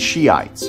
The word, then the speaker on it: Shiite: of Muslims, Sunnis and Shiites, which are fighting each other. Right, Iran is Shiite, which, like a tranny, from looking at it, you can't tell it's pronounced with a she.